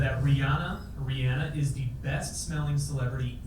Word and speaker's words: Rihanna: We weren't saying her name right. Yep. It's Rihanna. It's Rihanna.